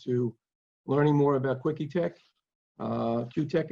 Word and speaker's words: KiwiTech: I'm really looking forward to learning more about KiwiTech, Q-Tech actually, proper pronunciation, and I'm glad to be speaking to everybody today.